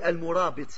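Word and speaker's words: murābiṭ: vient de là-bas, mais c'est une prononciation française d'un mot arabe. Le mot arabe c'est al-murabit.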